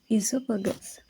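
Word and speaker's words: oesophagus: s so here in there is letter O but uh it is silent so we pronounce this as Esopus sing we can label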